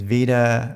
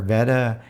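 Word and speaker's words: Veda Ann Borg: actress that played Connie I believe the way to say her name is Vida or Veda Ann bork died of cancer in 1973 and he actually played candy died of throat cancer in 1962.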